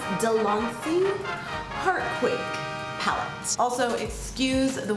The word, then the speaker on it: De'Lanci: And today we are going to be talking about the, I believe it's pronounced Delancey Heartquake palette.